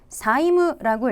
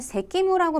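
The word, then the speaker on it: 債務: 발음 잘 보시면 사이무라고 읽으시는데 요거 자칫 잘못하면 새끼무라고 발음하시는 분 많거든요. 근데 이 빛의자란 한자는 여러분 새끼가 아니라 사이라는 음독을 가지고 있는 한자이기 때문에 채무는 사이무라고 발음하십니다.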